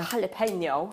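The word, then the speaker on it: jalapeño: It's spelt jalapeno. Why is it an H? Don't get that either. Jalapeno.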